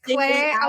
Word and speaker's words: Clare Dea: So it's Clare D-E-A. Dea. D. D, yeah. So even though it's DEA, it's pronounced like the alphabet A, B, C, D.